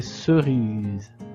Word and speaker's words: cerises: Alors, ici, le S c'est entre le I et le E. Deux voyelles. Donc le S se prononce Z. Ce sont des cerises.